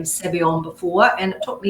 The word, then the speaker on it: Savion: I'd never heard the name Savion before, and it took me even ages to be able to pronounce it properly. It's actually Savon, but it's just never said completely right.